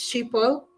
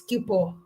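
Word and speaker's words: Schiphol: fact um your airports I've always known it as simple apparently it's keeper Amsterdam's keeper airport it's they they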